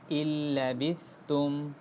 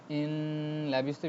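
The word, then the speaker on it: إن لبثتم: সাকিনের পরে লাম আসছে, লাম আসলে গুন্না হয় না, জি গুন্না ছাড়া পড়তে হবে, এই জন্য আমরা কি করছি না, গুন্না করছি না। ইন লাবিস্তুম এমন আমরা পড়ছি না,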